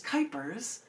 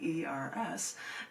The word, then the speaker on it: Kuypers: Don't get Janet Jackson because my last name is Kuypers, rhymes with hyper, Kuypers, and you would be able to find a lot of them right there.